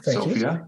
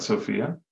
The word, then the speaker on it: Sofia: Thank Sofia. You. It is Sofia, not Sophia, but excellent.